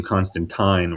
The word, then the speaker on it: Constantine: saying his name Constant Constantine. Constantine. Yeah. Versus Constant He's saying his name Constantine rhyming with wine.